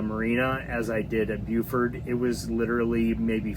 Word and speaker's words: Beaufort: And she said a great way to remember is it's beautiful Beaufort. And so they call it Beaufort there in South Carolina.